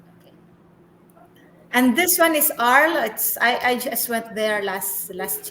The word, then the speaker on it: Arles: Arles pala Oh, pronunciation. yeah, it's because it's Arles.